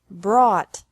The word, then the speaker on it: brought: Bring, brought, brought. Buy, bought, bought. Catch, caught, caught. Fight, fought, fought. Seek, sought, sought. Teach, taught, taught. Think, thought, thought. Remember that the G is silent in these verbs.